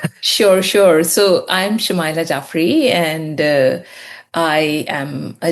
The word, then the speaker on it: Shumaila Jaffery: So I'm Shamaya Jaffrey and uh I am a journalist currently doing a PhD at the University of Leeds.